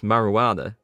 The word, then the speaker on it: marijuana: Well, yes, Harmless, it is a silent J because you don't make the hard J sound. So it is kind of a silent J. And besides, you could still pronounce marijuana with the other letters in there. So it doesn't need the J at all.